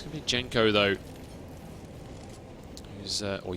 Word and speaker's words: Jenko: Or Yanko or Genko or however it's Jenko, but I cast so many Swedish teams that you know, you pronounce the J's like a Y, so it's like Yanko.